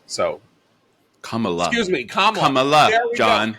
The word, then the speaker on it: Kamala: who was Kamala Harris only he will probably pronounce it Kamala because he too will have forgotten that we were we were beaten over the head with the idea that we were to pronounce your name Kamala so Kamala excuse me